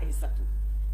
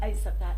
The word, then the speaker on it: Aïssata: Et mon père me dit non, tu es Aïssata. Tu n'es pas Aïssatou. Je lui dis mais papa, quelle est la différence entre Aïssata et Aïssatou?